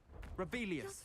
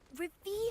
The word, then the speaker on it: Revelio: Rebellious. You're saying it wrong. Ugh, Revelio. Revelio.